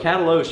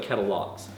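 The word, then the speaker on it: Katalox: It's spelled K-A-T-A-L-O-X. It looks like Catalox, but it's called Cataloche.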